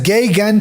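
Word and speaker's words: Geoghan: Entonces es Geigan, se pronuncia Geigan ese Yo apellido. lo he escuchado pronunciado como Geigan, pero Tú no sabes más soy inglés experto. que yo, voy a decir Geigan.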